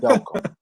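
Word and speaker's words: Delcambre: And JB, it is the pronunciation is Delcom.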